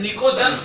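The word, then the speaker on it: pnictogens: एक और नाम है निकोजेंस। निकोजेंस से पी साइलेंट होता है। पी क्या होता है? साइलेंट।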